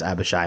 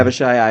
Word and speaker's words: Abishai: Abishai, I see where the confusion is. They both end in shy.